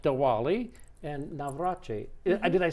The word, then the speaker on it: Navratri: We're back, and we're going to go to India now, and we're going to talk about something called Diwali and Navratri.